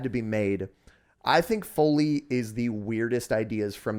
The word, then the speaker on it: Foley: Folly songs so by the way it is foley yeah and I I've been saying it wrong